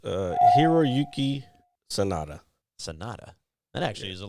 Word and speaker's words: Hiroyuki Sanada: It's Hiroyuki Sanada. Sanada. That actually is a lot easier to pronounce than I thought it was going to be.